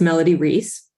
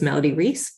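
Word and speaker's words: Melody Reis: on your testimony sure it's Melody Reese m-e-l-o-d-y-r-e-i-s so thank you for the opportunity to testify my name is Melody Reese and I'm with Mom's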